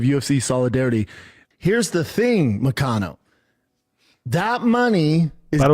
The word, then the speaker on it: Moicano: Here's the thing, MOICANO. That money is... By the way, I like how he mispronounces his name. MOICANO. It's MOICANO, right? It's MOICANO. It's not MOICANO.